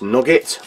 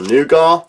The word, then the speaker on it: nougat: soft mixed dried fruits nugget or nougat again depending on which part of the world you're from and how you pronounce that this particular one is